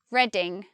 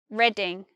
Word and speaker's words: Reading: not reading as in reading a book this one is just reading reading this one is barking